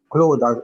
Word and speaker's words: Claude: So I think Claude, has a Latin root, but I think it is also, how do you say Claude in pure French? That's Claude, as you just said.